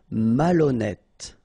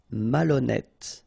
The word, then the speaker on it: malhonnête: décider, malhonnête. Okay, remember, H doesn't exist, so malhonnête. Don't insist on the final E. Malhonnête. And here you get E accent circonflexe, so you pronounce it like E. Malhonnête.